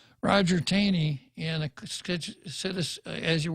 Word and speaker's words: Taney: I rather pronounce it Taney because it looks like Taney but it's actually pronounced Tawny Roger Taney and a citizen as